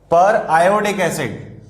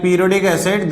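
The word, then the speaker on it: periodic acid: पर आयोडिक एसिड, तो don't pronounce it like पीरियोडिक एसिड, this is पर आयोडिक एसिड।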